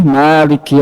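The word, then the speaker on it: مالك: panjang bacanya Maliki yaumiddin padahal ini dua dua cara baca dua qiraat bahkan di riwayat kita ya di riwayat asim ah hafaz qiraat asim riwayat hafaz itu juga sama bisa Maliki yaumidin atau Malik makanya di Quran itu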